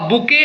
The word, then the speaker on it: bouquet: जैसे एग्जाम्पल्स है, I gave my mother a बुके of flowers. देखो यहाँ ध्यान से देना, ये आपको लग रहा होगा बुकेट लिखा हुआ है, BOUQUET, लेकिन इसका प्रोनाउंसिएशन हम करते हैं बुके।